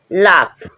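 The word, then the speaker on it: laugh: लाफ लाफ है। यहां गलत हो जाता है। लाफ लाफ मींस हंसना। जी एच साइलेंट है।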